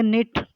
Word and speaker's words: knit: आगे निट, KNIT, निट बुनना, के जो है साइलेंट है इसमें, निट हम पढ़ेंगे।